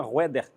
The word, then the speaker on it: Roeder: Nós estamos recebendo aqui a missionária Roeder. É assim que pronuncia?